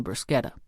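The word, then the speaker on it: bruschetta: Now, dice up those tomatoes for the brisketa. He pronounced the word with a hard K of the Italians instead of the soft sh most Americans used.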